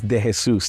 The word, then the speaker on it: De Jesus: My last name is De Jesus. That's how you pronounce it.